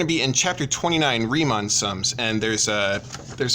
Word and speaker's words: Riemann: Rick and Morty Rhee and then Mon not man so like Mon like come on so so riemann his brain aidid bernhard